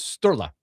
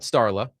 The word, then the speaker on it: Sturla: His Quote, first name is Sturla. Sturla. Yeah. Sturla. Oh, Sturla. Not Starla. Not Stella. Sturla. At least it's spelled Sturla.